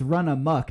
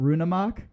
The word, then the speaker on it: Runamok: been saying it wrong so it's it's run amok not rune amok I assume it's run